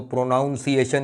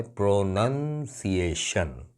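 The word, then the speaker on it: pronunciation: भाई प्रोनाउंसिएशन कोई वर्ड नहीं है इंग्लिश में, वर्ब है प्रोनाउंस, मगर जब उसका नाउन बनता है तो ये बन जाता है प्रोनंसिएशन। स्पेलिंग भी यही है, PRONUN, प्रोनंसिएशन है, प्रोनाउंसिएशन नहीं है।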